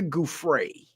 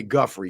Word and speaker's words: Giuffre: It's Virginia Giuffre, but I've been saying Virginia Guffrey because that's what Alex Jones used to say.